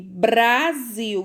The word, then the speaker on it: Brasil: Se escreve apenas com um R só, né? No meio das vogais. E a palavra Brasil, vamos ver como é que se escreve? Olha aí a palavra Brasil, certo? É entre consoantes, né? O R, ele tá entre as consoantes. E aí esse som fica diferente, ó.